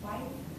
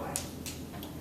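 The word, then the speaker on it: wythe: It has a inner white. Is that how you say it? White.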